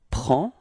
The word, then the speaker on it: prend: Il, we get il prend. Okay, so same pronunciation. Final D is not pronounced, so it's only the P-R-E-N, prend.